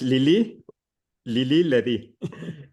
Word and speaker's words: Lili Ledy: Now, I just, for a little clarification, repronounce or re-say Lila Lili? I didn't understand what it was. It's Lili Ledy. Lily Letty.